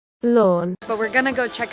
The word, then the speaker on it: Lorne: near the town of Lorne I think that's how you say it lawn but we're gonna go